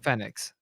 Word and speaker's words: Fenneix: and then you rebranded to Fenneix, or how do you pronounce Yeah, it? Fenneix.